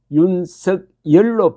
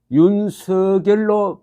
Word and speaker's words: 윤석열: 열자가 들어가는 법멸, 감멸을 감멸로 표기하고 법열, 가멸로 발음하는 것처럼 윤석열도 윤석열로 표기하고 윤석열로 발음하는 것이 맞다.